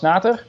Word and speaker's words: Schnater: My handle is @Schnater with CH, sort of a German pronunciation.